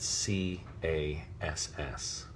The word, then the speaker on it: Cass: pronunciation they expelled at C a SS which is hard C followed by the vowel and consonant cluster that makes the sound ass so Cass as opposed